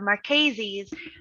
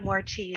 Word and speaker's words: Marchese: um yes my namesake it's uh marchese's the proper way to say my name but um i'll accept more cheese i'm i'm very comfortable with more cheese but i've never seen